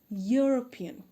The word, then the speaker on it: European: a european european though the first letter of european is e but the sound is of why because it's it pronounce european and the next example